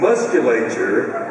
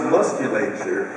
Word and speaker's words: musculature: And musculature, I always thought that word was pronounced musculature. I discovered from the know-it-all, Robin Quivers, that is pronounced musculature.